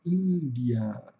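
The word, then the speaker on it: India: Chuá, aquele sonzinho do adolescente entediado do ã ã, então não é um a aberto, é índia.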